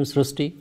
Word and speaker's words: Srishti: We have heard of Srishti, but this is a very unique name, Srishti. So in Marathi, the word Ri is pronounced as Ru. So that is why the pronunciation goes Srishti.